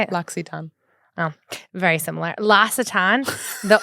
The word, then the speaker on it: L'Occitane: L'Occitane.